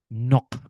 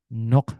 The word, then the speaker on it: knock: Knock. Knock the door. Knock the mic. Yes. Knock. Ini dia, Mbak Nurul. Di sini ada sedikit K is silent before N ya harus kita pelajari seperti ini.